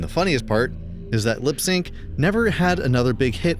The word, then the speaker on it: Lips Inc.: Lips Inc., yep, that's pronounced LipSync, wasn't actually a full-time band, but was a studio project created by a guy named Steven Greenberg.